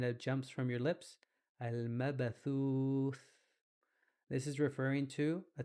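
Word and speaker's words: المبثوث: This is pronounced as al-mabathuth. Al-mabathuth. And for many pronouncing, a th is difficult. Thuth. It almost sounds like tooth.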